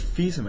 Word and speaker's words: Fils-Aimé: It's Fils-Aimé.